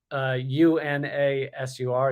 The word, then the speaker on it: UNASUR: He also dedicated himself to sabotaging institutions of Latin American integration, withdrawing Brazil from UNASUR, UNASUR. So that's pronounced.